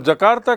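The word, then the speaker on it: Jakarta: Indonesia का capital है जकार्ता और जकार्ता की स्पेलिंग पर ध्यान दें, डी से शुरू होता है जबकि उच्चारण जे से शुरू होता है।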